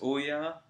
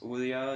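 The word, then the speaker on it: Ouya: uh there is uh I can never say this I bet you there's going to be a hundred people saying no that's not how you say it but it's Oya I believe it is Oya is going to be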